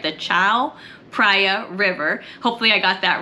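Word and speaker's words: Chao Phraya: down to let me say it right the Chow priia River hopefully I got that right and that's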